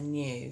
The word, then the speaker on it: knew: I know, I knew, so the past tense of knowing. And that one, for some reason, unbeknown to why, it has a silent K on the front.